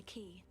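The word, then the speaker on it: quay: Man, it bothers me so much that word Q-W-A-Y is pronounced key.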